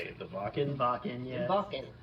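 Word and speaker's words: Wacken: Yeah, Vakan.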